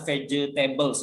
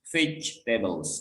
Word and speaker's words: vegetables: Bilangnya tolong jangan vegetables ya. Jadi huruf E setelah G ini tidak dibaca. Jadi seolah-olah kita tuh bacanya vegetables. Jadi bukan vegetables.